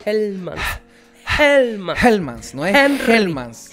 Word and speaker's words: Hellmann's: Pero no es, tampoco es con J. No. Es con H, es Hellmann's. Hellmann's.